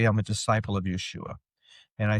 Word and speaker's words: Yeshua: Well Yeshua is certainly the Jew especially the Jewish is the Hebraic way of saying it. Yeah. That's that's the more correct way of saying the name.